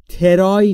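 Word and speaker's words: try: حالا دقت داشته باشید در مورد تلفظش ترای نیست دوستان ترای ترای بین تی و آر صدایی وجود نداره ما هم صدایی اضافه نمی‌کنیم ترای یعنی سعی کردن ترای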